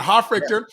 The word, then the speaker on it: Hofrichter: Hofrichter, who I've actually known for probably about 10 years because you were my Krav Maga instructor.